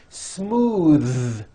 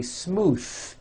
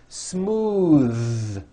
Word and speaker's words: smooth: the ends of words smooth believe it or not the th sound in smooth is voiced most foreign speakers say this word incorrectly they say smooth with an unvoiced th but it's voiced smooth bathe the word bath